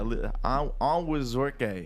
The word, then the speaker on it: Onwuzurike: Yeah, Onwuzurike. Yeah, his is just like it's just like it's spelt, which that I can deal with.